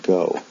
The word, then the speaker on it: go: For example, do and go both end in an O, but one is pronounced do, the other was pronounced with an O sound, go.